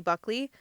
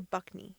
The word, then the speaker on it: Buckley: Is it Buckley or Buckney?